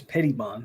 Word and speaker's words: Petty Bond: cold no what good as it pronounced Petty Bond okay so it's Petty Bond not pett or whatever I was saying Mike what's going Oni